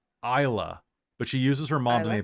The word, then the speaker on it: Isla: And her name is Isla, pronounced Isla, but she uses her mom's name, so she's Isla Reeve.